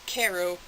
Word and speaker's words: Cairo: in Cairo West Virginia its Cairo I always mispronounce it the permanent number is